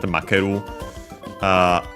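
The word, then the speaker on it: 負ける: Actually an accent Makeru.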